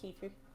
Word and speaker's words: kefir: yogurt milk and fruit it's pronounced Key Food okay kefir with kefir